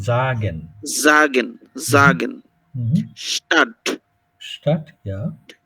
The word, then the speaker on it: sagen: এস জাগেন, জাগেন, জাগেন, জাগেন না, ওটা long একটু, জাগেন, জাগেন, জাগেন, স্টার্ট, স্টার্ট, ইয়া, ইস্ট হাউস, হাউস, টে টাক।